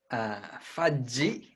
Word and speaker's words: Fudgy: She's Fudgy, as in fudge, but pronounced in the Japanese way.